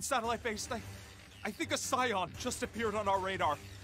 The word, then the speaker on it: Scion: I think a Scion just appeared on our radar. 30 kilometers north-northeast. So this is how you pronounce it, Scion. I know it sounds different.